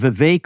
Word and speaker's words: Vivek: description of the video it's vake rhymes with cake by the way this